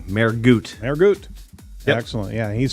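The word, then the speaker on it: Mehrguth: Mergoot.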